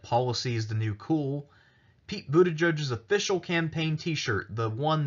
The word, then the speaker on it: Buttigieg: is the new cool Buddha judges official campaign t-shirt the one that's primarily displayed on his website says bucht edge edge that is a phonetic explanation of how to pronounce his name so you know that